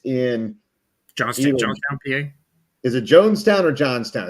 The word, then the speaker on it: Johnstown: Is it Jonestown or Johnstown? It's Jonestown, right? It's spelled Johnstown, but it's probably pronounced Jonestown.